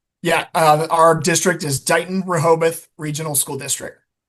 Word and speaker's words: Dighton Rehoboth: And how do you how do you pronounce your district name? Yeah. Uh our district is Don Rahobath Regional School District.